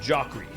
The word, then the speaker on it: Jacri: Like it's like Zachary, but Jacri. It's the French version of my name. I was given a pronunciation guide. It's actually Jacri.